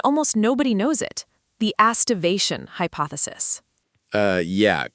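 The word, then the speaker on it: aestivation: The astivation hypothesis. Yeah, quite the resonant phrase for the poets, rhymes with hippopotamus.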